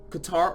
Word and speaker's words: Qatar: so what ends up happening is that um qatar or cutter however you'd like to pronounce it had an order for airbus a320